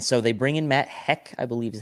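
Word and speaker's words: Haack: they bring in matt heck i believe is how you say his name who had 68. sorry sorry so i think it's pronounced hawk man talk all over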